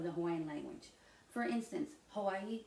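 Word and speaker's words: Hawaiʻi: For instance, Hawaii is actually pronounced Hawaii.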